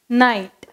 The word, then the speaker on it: night: Night.